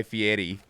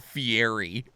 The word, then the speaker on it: Fieri: that's like Guy Fieri his name is Guy Fieri like it is not Fieri oh Oh Black Panther's